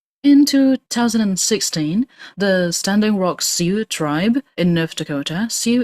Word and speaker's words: Sioux: In 2016, the Standing Rock SEU tribe in North Dakota, SEU is spelled S I O U X, the Standing